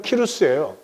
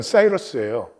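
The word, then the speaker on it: Cyrus: 발음을 딴 것 같은데 이름은 키루스예요. 영어로서 세계에 통용되는 건 사이러스예요.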